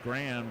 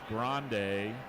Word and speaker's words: Grande: In lane 8, that is at Max Grande. I've been saying it wrong. Thanks, Coach, for letting me know.